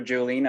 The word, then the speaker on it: Juhlin: this show uh so my name is juline as you would pronounce it uh i'm an md meaning that